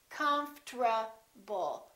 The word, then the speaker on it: comfortable: this is what happens the o disappears but then there's one more very strange thing that happens and that's the rt becomes a tr they change positions listen comfortable comfort ball comfortable i'm